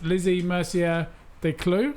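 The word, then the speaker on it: Lizzie Mercier Descloux: So how do you pronounce Yeah. it? Lizzie Mercier de Clou.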